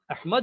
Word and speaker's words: احمد: وہ احمد ہے۔ اب احمد جو ہے نا، صحیح تلفظ احمد ہوتا ہے، تو احمد جو ہے